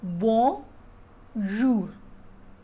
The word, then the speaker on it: bonjour: How to pronounce bonjour is, first is bon, B-O-N is bon, and then J-O-U-R, jour. So bonjour.